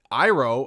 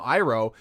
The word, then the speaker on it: Iroh: They call him Iroh, but I call him Iroh because that's how every person in my life, that's how they pronounce their names. Their I sounds like an E.